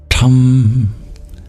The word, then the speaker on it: Tam: What you do is you curl your tongue back and you tap the bottom of your tongue off of the roof of your mouth, and you make it really breathy.